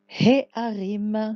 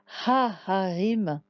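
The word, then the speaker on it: הֶהָרִים: On pourrait dire Ha Harim, mais ce ne serait pas joli de He à la suite. Ça ne se prononce pas de façon agréable. Donc, He Harim, ça permet de différencier un peu les deux He. C'est pour ça qu'on dit comme ça.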